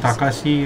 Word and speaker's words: Takashi: They actually pronounce it Takashi.